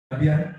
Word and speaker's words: Abia: It's Abia. You cannot pronounce the name of the governor of Akwa Ibom State.